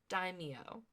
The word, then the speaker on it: daimyo: And Fennec is very focused and ruthless and very serious, while Boba's kind of just like, hey, I'm the daimyo.